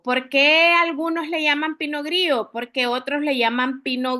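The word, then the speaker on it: Pinot Gris: Tenemos que la pinogrí viene de Francia, ¿verdad? Eh, acá la s no se no se es muda, ¿verdad?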